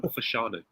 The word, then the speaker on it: Fashanu: Ormond- It doesn't say John Fashion, it says John Fashanu.